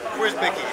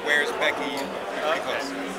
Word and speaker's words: Wierzbicki: your last name anyway Where's Becky it's a little bit like a question about Becky Where's Becky okay and how do